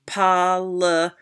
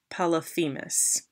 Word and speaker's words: Polyphemus: And we find out that his name, even though I mispronounced it or stumbled over it, is pronounced Polyphemus. Polyphemus.